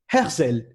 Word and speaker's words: Herzl: Herzl, normalement. C'est ça. Prononce, même si c'est faux. Vas-y. D'accord, ok. Là, c'est lui, c'est vrai. C'est Théodore Herzl.